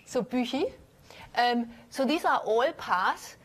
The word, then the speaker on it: Büchi: So the next one is called Büchi, also called Buki for people who can't pronounce Büchi. And I keep on going back and forth, excuse me, because I keep on working with people who can't pronounce it, so they say Buki, so I say Buki, but then I talk to my husband who says, this is Büchi. So I try to stick with Büchi.